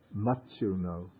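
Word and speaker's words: maccuno: No, it's two C's. The C is pronounced like CH, like church. Machuno.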